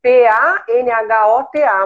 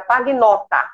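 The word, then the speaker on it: Pagnotta: Aqui no Brasil, a gente se escreve P-A-N-H-O-T-A, mas na realidade, o nome correto é P-A-G-N-O-2-T-A. Era Pagnota. Pagnota. Se leria Pagnota. Panhota. E quando veio para cá, acabou virando Panhota mesmo.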